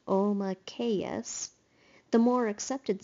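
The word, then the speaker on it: Omakayas: The name is pronounced Omakeus.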